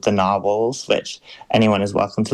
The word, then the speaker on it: Gnarwhals: this band called the Gnarwhals, which anyone is welcome to look up. It's like GNARWHALS. The unicorn dugongs. Yeah, but with a silent G because it was like